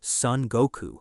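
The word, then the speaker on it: Son Goku: The connection is so obvious that in Japanese, the Four Tails is actually named Sun Goku, which is just the Japanese pronunciation of Sun Wukong.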